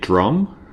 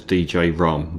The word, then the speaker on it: Djrum: Um, you can pronounce it drum, but that doesn't sound as good as DJ Rum. They're both spelled the same, but they don't have